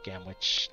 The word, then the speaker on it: Gamwich: Gamwich, Gamwich. There we go. Gamwich rhymes with sandwich, and that's making me hungry.